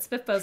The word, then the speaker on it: SPFBO: what is it yeah spfbo which is how I pronounce it but spiffo's a little easier uh is the competition